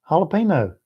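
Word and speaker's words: jalapeño: Jalapeno. Y'all put the little squiggly. See, jalapeno has that little squiggly thing over it. Y'all put the little accent on the little squiggly thing.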